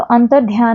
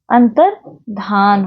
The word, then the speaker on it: अंतर्धान: या संबंधी अगर देखा जाए तो अंतर्ध्यान, तो अंतर्ध्यान नहीं होता है, अंतर्धान होता है, अंतर्धान।